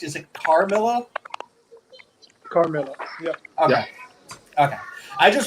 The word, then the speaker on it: Carmilla: carmilla oh so am i am i actually pronouncing your your bad name correct is it carmilla carmilla yep okay okay i just wanted to make